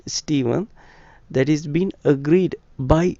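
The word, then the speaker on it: Stephen: we are diverging in s t e p h e n it's Steven it's Steven the pronunciation right dictates steeven and it's not steepen it's not steepen so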